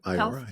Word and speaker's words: Iora: Is that how you pronounce it? Iora? Yep. Iora, yep.